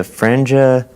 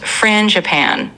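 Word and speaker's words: frangipane: The franja? Yeah, no problem. It's pronounced frangipan, so kind of like frangican.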